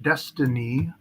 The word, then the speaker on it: DXYZ: So here's DXYZ, pronounced Destiny, and I drew like a worst case scenario if it did an ABC down to the 618 to 786 zone.